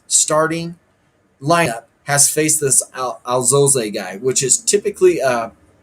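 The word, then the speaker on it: Alzolay: And Alzole is how they say it, Albert Alzole for the Cubs.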